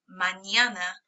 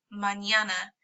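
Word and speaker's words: mañana: called an in and it is pronounced like an n and a y together a sound so AA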